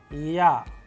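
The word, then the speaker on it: Я: another very interesting letter known as Ya, a vowel. And how do we pronounce it? With the help of English approximation word as in yarn, and with the help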